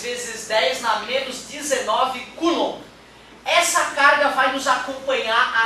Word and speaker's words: coulomb: É coulomb. Coulomb. Coulomb, tá? A pronúncia é essa, coulomb.